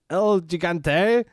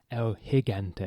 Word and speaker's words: El Gigante: Against El Gigante, Sting, the Steiner brothers of Rick Steiner and Scott Steiner. Correction, it's Elhigante. Is it Elhigante? That's how he gets pronounced.